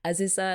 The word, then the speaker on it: Azusa: Azusa as well, who helped kick Yui's butt into